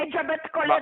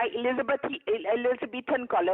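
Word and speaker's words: Elizabethan collar: एलिजाबेथ कॉलर नहीं होता, एलिजाबेथन कॉलर होता है।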